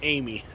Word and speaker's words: Amis: Thomas Amy, but I thought it was Thomas Amos. Amos. It's Thomas Amy. Amy. It's pronounced Amy. It's French, right?